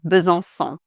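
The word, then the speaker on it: Besançon: for example like so bzon so it's not a hard c like in other French words for example the city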